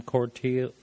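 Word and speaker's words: Cortile: Cortio.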